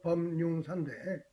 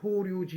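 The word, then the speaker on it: 法隆寺: 우리 발음으로는 법륜사인데 일본 사람들은 이걸 호류지 이렇게 발음합니다.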